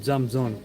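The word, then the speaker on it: 站桩: It's spelled Zhang space Zhuang, but it's pronounced Zamzong.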